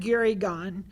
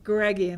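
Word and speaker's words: Gureghian: But they have to give them to Vahan Gurigan. Did I say it right? Guregian, I knew you'd know.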